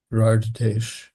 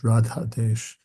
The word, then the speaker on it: Radhesh: one comment that this Radhesh is usually pronounced in Indian as Radhadesh, but actually it's has nothing to do with Srimati Radharani. It's a different letter of the alphabet.